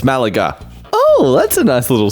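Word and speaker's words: Málaga: I said it correct. Don't correct me. No, that's how you say it. It's Malaga.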